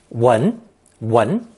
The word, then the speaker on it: 闻: It's pronounced second tone, 闻, and usually means to hear, or more rarely, to smell.